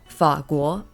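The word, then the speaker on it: 法国: lives first is France in Chinese this is pronounced as fakul but in Japanese we pronounce this as futsukoku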